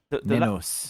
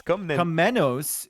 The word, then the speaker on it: Komnenos: The last N is difficult to pronounce it. It's like you think you're done with the word after the MN, and then you have another N coming to finish you.